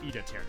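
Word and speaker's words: Idaten: It's not Ita 10, it's Ida 10.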